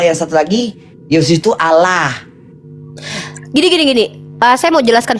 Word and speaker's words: Allah: kita sebut Allah karena harus ditafkim ditebalkan karena itu Alif lamnya itu ada dua harus kalau alif lam itu ditebalkan karena diawali dengan huruf Fattah maka bacaannya Allah nah mereka bacanya Allah